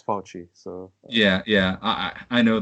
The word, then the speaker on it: Fauci: I looked up the Italian pronunciation, and it's Fauci.